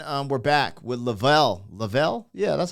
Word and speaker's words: Lavell: Lavell.